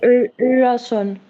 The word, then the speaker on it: Öresund: How do you pronounce the O with a slash through it? Ö. So it's like Öresund.